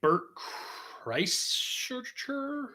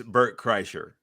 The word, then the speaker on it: Bert Kreischer: to say his name Bert Christ no it's Bert Kreischer okay thanks yeah he